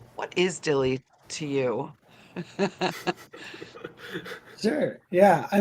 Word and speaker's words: DYLI: Jonah and Alex with I keep saying it wrong Dy LLY I say like d DIY Dilly okay I don't know why yeah yeah whatever Dilly really easy I'm wild okay Dilly I like that so much um